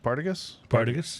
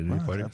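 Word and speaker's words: Partagás: Partagas? That's the way I say it. I Partagas. put the emphasis on the wrong syllable there.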